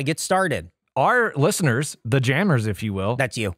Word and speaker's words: Jammers: doordash yeah that's j-a-m-m-e-r-s Jammers don't say it like that they're just yammers they're just Jammers yeah no not jamesers ah you okay yeah